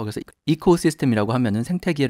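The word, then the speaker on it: ecosystem: 생태계를 2코스 시스템이라고 얘기하죠 발음 하실 때에 코가 아니라 이코 라고 발음하도록 좀 주의하시고요 그래서 이코 시스템 이라고 하면 생태계 를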